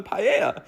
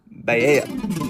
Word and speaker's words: paella: And then the waiter takes my order and I'm just like, "Oh, I'll have the paella." And my friend goes, "No, it's pronounced ba."